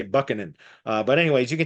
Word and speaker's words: Buchanan: that buckin uh looks like it should be pronounced Buchanan but if you say Buchanan around here in this area the people look